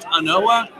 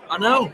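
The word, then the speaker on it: An Oa: So it looks like it ought to be pronounced Anoa. And honestly, you can pronounce it however you want because it's your whiskey and you're always right no matter what. No. But we do tend to want to pronounce it Ano as in Ano. It's really Ano.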